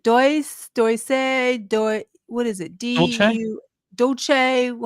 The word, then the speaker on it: Dulce: Dolce? How do you say Dolce? Is that what is that how you Yeah, pronounce it? Dulce.